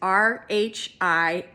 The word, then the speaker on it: Rhiannon: And so the name is spelled, the Welsh spelling is Rhiannon.